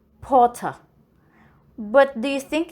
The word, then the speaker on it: Potter: The R must be silent. Potter.